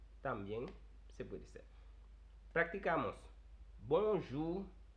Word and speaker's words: bonjour: B-O-U en bonjour. O-U se pronuncia como U del español. Por eso digo bonjour.